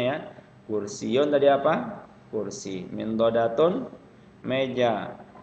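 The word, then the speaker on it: مِنْضَدَةٌ: Min dodatun ya, min dodatun, min dodatun.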